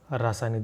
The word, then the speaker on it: रासायनिक: जैसे अब कोई रासायनिक बोलेगा, कोई रासायनिक बोलेगा, एक्चुअली रासायनिक बोलना चाहिए में, रासायनिक।